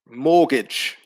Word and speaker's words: mortgage: for number one indeed the silent letter is t mortgage is a pronunciation so there's no pronunciation of the t sound in number one uh